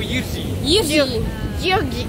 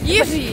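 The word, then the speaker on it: Jiří: o en checo, Yirji. Yirji.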